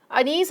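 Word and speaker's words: Anees: ठीक है, सो एनिस अनीस अपन इसे रीड करेंगे। अगर अपन इसको इंडियन नेम है, ये वैसे इंडियन राइटर है इनका, अगर हम सही प्रोनाउंसिएशन करें तो अनीस होगा।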